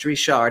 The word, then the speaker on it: Richard: It's spelled like Richard, but it's pronounced Richard. If you're from Louisiana, you already know how to say it if it's a last name.